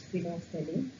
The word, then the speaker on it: phenolphthalein: First you see the spelling of this phenolphthalein, Phenolphthalein, and it is pronounced as phenolphthalein.